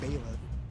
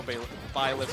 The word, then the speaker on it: Byleth: I always mispronounce that. It's Baylen or Byleth. It's Byleth, but there's no A. How are you gonna pronounce it with Baylen?